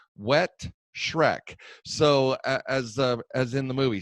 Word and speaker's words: Wettschreck: When we come back, we'll be meeting with Kirk Wettschreck, and we'll make sure I pronounce that again, because he told me that it's called Wettschreck, so as in the movie.